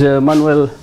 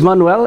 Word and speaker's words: Manuel: uh my name is Manuel it's a Spanish name actually Manuel is the English pronunciation but it's a Spanish name actually is a Hebrew